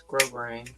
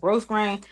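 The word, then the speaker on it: grosgrain: Yes, it's grow grain. I like gross grain. Or you can use grow grain ribbon with S is silent.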